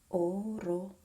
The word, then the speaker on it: orologio: Orologio. Orologio. Closed, closed, open, closed.